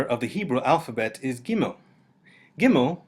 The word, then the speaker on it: Gimel: Without the Dagesh, Gimel sounds like a soft G, G. And with the Dagesh, it sounds like the G we're used to in English, G.